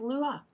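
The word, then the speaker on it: Luqa: Malta the pronunciation it's it's called it's apparently pronounced Lua Lua Lua airport in Malta is where the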